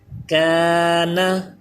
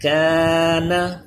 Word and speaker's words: کان: اس پہ زبر ہے۔ کان، یہاں پہ دیکھیے الف سے پہلے یہ کاف باریک پڑھا جانے والا حرف ہے، اس لیے یہ الف بھی باریک ہو گیا، اس کی آواز بھی باریک، کان۔ اسی طرح یہ الف